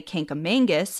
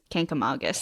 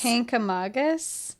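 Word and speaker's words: Kancamagus: other twos are O's many people try to put a second n in the word and say kangus this is the most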